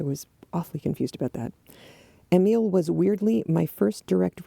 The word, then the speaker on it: Emile: And clarification, Emile is the boy. It is not Emily. I think it's pronounced Emile.